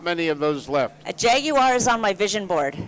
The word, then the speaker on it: Jaguar: As I lived in the UK for 3 years, and so the correct pronunciation is a Jaguar.